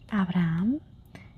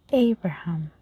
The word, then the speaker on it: Abraham: so we have um since we don't pronounce the H. This is Abraham. Abraham we forget completely about the H. In English we say Abraham. You notice the difference. In Spanish we say Abraham.